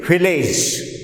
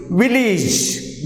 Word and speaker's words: village: We usually say village, but it is not village. The correct pronunciation of this word is village. Village. So here A is pronounced as E.